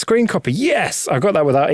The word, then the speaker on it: scrcpy: That's what I'm going to call it, even though it's spelled SCRCPY. But that's got to be screen copy.